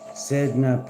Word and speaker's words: Sedna: Sedna, pronounced Sedna, is the sea deity of the Inuit people.